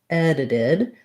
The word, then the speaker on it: edited: So we have first syllable stress, edited. So we have the sound. This first D is just a regular D. And then because this T falls between two vowel sounds, it also functions like a D. It's a flap T. So I'm going to write it as a T, but if I were to say it, I would say did.